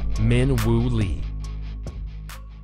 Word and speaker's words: Min Woo Lee: Fowler or Windam Clark it is one man in three syllables Min wo Lee Chad wozi wants to